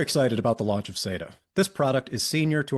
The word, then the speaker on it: SATA: There was always a debate among like hardware junkies who use SATA devices, whether or not it's pronounced SATA or SATA. I prefer SATA, but it sounds like the team's going with SATA.